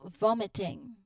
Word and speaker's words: vomiting: And then the final ing sound is the standard nasal sound, ing. There's a nasal sound there when you say it. ing. So vomiting, vomiting. Again, vomiting. All right. So the overall rhythm, it emphasizes the first syllable.